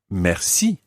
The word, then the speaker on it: merci: And the word for thanks or thank you is merci. Merci. Now, merci is one of these slightly tricky words in French because it's got a French R sound.